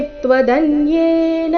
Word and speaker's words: त्वदन्येन: तेजोमयं विश्वमनन्तमाद्यै यन्मे त्वदन्येन न दृष्टपूर्वम्। यन्मे, यन्मे त्वदन्येन, इस शब्द में न है, अंतिम में न, अंतिम अक्षर जो है वो न है और वो पूर्ण है।